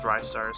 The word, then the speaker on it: Ristar: Ristar. Well, Sega has actually confirmed that it's pronounced Rystar, so fuck you.